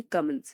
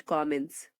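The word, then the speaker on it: commence: First, कमेंट्स, जिसका pronunciation हम यूज करेंगे कमेंट्स, नॉट कमेंट्स।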